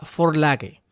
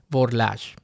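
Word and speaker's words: Vorlage: A veces lo verás denominado de esta forma, que es una palabra alemana que se pronuncia forlage, pero que en español muchos pronuncian borlage o borle.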